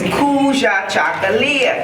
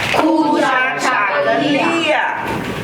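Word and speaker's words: Kujichagulia: And it is recognized, the principle of that day is Kuja Chakalia. Can you say it? Kuja Chakalia.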